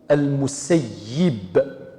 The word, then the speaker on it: المسيب: هو من أهل المدينة، ولغة أهل المدينة تنطق المسيب، هذا هو الصحيح.